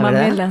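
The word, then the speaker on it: Kumbh Mela: acabas de regresar del cumb mela lo pronuncié bien kumbela verdad camela sí cuéntale a la gente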